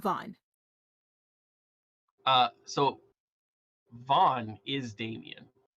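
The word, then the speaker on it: Von: I spelled bones wrong name v-o-n is uh Vaughn and Damien his name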